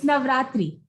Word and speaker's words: Navratri: How do you say it? It's Navratri. Okay, Navaratri.